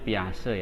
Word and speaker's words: Piaget: Ini bacanya Piaget ya.